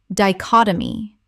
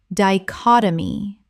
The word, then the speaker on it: dichotomy: Dichotomy. Common mispronunciation. Dichotomy. Correct pronunciation. Dichotomy. Four syllables with the stress on the second.